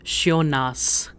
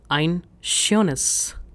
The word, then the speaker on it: schönes: s by removing d, pronunciation is a bit weird, schönas. Now instead of having a, what we'll do is we'll replace it with e. So it becomes ein schönes, and it is easier to pronounce, ein schönes.